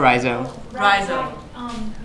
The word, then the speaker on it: Rhizo: pronunciation before here um you need to call me or rhizo um oh beautiful yes